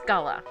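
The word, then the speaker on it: Scylla: and here we gets culla yeah that's actually how it's pronounced it's usually written SC y lla those of you with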